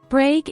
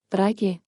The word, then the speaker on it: Brage: Brage is a common name in Scandinavia today. This is how you pronounce the name in the different former Viking countries. Brage. Brage.